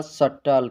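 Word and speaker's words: subtle: लिखा है सबटल लेकिन पढ़ा जाएगा सटल क्योंकि बी साइलेंट रहता है अब हम देख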